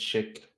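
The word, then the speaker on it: Schick: out sorry yeah it's it's it's chic but the way it's spell it's it's with sc see that's where i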